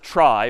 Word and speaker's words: trie: And it's short for retrieval, but pronounced tri for weird historical reasons.